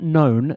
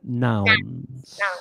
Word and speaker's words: nouns: Yeah, not known, nouns. Yeah, remember, because if you say known, it sounds like a gnome.